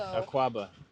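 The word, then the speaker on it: Akwaaba: So Aquaba.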